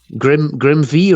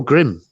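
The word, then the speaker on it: GrimV: Grim V or Grim? The V is silent, dude. Oh, Grim.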